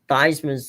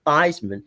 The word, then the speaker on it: Theismann: of your name to Theismann, so I can put you on the cover of our, press guide as Theismann for the Heisman."